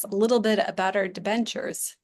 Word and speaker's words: debenture: Can you tell us a little bit about our debentures? And I don't think I'm saying that right. No, you're saying it correctly.